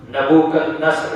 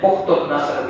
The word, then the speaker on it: نبوکدنصر: کا نام نبوکدنصر ہے۔ نبوکدنصر، اس کو اسلامی یا عربی لہجے میں بخت النصر بھی پڑھا گیا ہے۔ آپ نے تفسیر کی کتابوں میں یا اسلامی تاریخ کی کتابوں میں پڑھا ہوگا۔ اردو لہجے میں کئی لوگ اس کو بخت النصر بھی پڑھتے ہیں۔ بخت نہیں ہے، بخت فارسی کا لفظ ہے، وہ اور ہے، یہ نبوکدنصر اصل میں، اور اسی کا